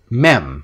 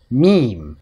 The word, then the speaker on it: meme: Most children would probably pronounce it mem. However, if you put a silent E on the end, the vowel changes from the short sound, eh, to the long sound, E. It becomes meme.